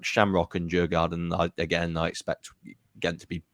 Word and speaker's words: Djurgården: So Ghent have got Mulder, Shamrock Rovers, and really sorry, I cannot pronounce the name of this last team. Djurgården.